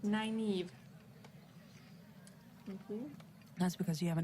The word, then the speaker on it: Nynaeve: It's Nineve, isn't it? Sorry if I'm Nineve? mispronouncing it. I can't quite place the accent. Nynaeve.